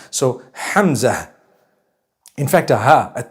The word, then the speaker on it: Hamza: Hamza is the proper pronunciation. Hamza. It starts with a ha, it has a mim, zai, and it has a ta marbuta at the end. So Hamza.